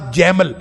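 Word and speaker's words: גימל: اسی طرح جیم ان کے مقابل ان کا خیال یہ ہے کہ عبرانی زبان میں جیم سے مراد جیمل، یعنی عبرانی تلفظ میں جیمل ہوتا تھا جو جمل کے مترادف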